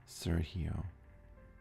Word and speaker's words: Sergio: In English, the seer sounds like the word sir. G rhymes with C. O is like the letter O. In Spanish... Yeah, Sergio.